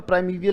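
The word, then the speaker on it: primeval: और प्राइमीवियल पढ़ा जाता है इसको, इसमें ईयल साउंड नहीं है वैसे, पर प्राइमीवियल ही उच्चारण है इसका।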